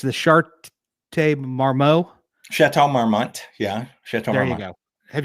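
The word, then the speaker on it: Château Marmont: Correct my pronunciation. I'm moninoi but it's the chart marmmo. Chatau marmmont.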